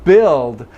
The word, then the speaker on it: build: So in a word like build, I will have a lot of students try to put some oo in build.